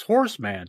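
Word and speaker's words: He-Man: it is oh Oh you mean Horseman that's pronounced Horseman yeah yeah not Horseman Horseman yeah it's not Horseman you trogley it's Heman Jesus Christ but that shit's [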